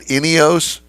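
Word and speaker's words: INEOS: Turismo in Wilsonville Oregon which is the uh inos dealership for uh the area wow well that's a fancy dealership there I like it all right so did I pronounce it right inos yes inos Grenadier is the name of the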